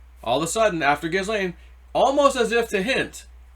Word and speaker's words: Ghislaine: Someone's like, no, it's not Ghislaine, it's Ghislaine. It's pronounced Ghislaine.